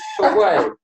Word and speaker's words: Torquay: When I first met Arron, my first mention to Arron to come down to Torquay, he's like, how do you pronounce that, Torquay? Torquay.